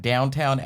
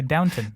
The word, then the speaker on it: Downton: even Downton even then wait it's not downtown I did too because the way they pronounce it I was like I just thought it was just some weird British way pronouncing I know it's actually Downton it's like alluminium shows